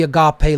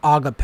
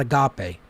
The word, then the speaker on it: Agape: The word Agape is pronounced just as I just pronounced it. Agape. It's not agape. Agape.